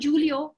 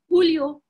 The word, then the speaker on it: Julio: Now remember what I said about the J? It's pronounced like an H. So it's not Julio. It's Julio.